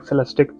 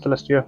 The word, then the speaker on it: Celestiq: It's a Cadillac Celestiq, not Celestia. I think I kind of mispronounced it. Didn't see the Q.